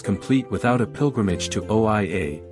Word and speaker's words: Oia: No visit to Santorini is complete without a pilgrimage to OA, pronounced EI, the village that adorns the northern tip of the island.